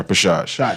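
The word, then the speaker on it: repêchage: Is going to put her best foot forward in the 400 meter how you pronounce that? Repechage? Yeah, repechage. French Yeah, that's word.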